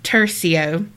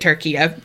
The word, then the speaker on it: Tercio: think of turkey, although our last name is pronounced Tercio. You were close. It's because Carrie told me how to say it. Tally for Carrie. It was a pure guess. And 9 times out of 10, I'm way wrong. And I totally pronounced it turkey.